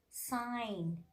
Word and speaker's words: sign: telling silent g examples are here campaign foreign sign design but each and every case exceptions are